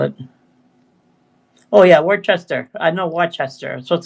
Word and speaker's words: Worcester: Oh yeah, Worcester.